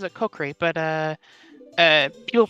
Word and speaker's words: Kokiri: I say Kokri. Like, it's almost like the sword, the Kukri, but I say Kokri, and don't worry about it.